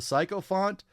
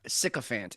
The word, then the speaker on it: sycophant: surprising Trump has the psycho font followers he does when there's so many un uneducated gble out there you're an idiot yeah sycophant is how you pronounce that word and and it means